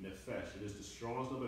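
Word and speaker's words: נפש: The nun, the fe, and the sheen, nephesh.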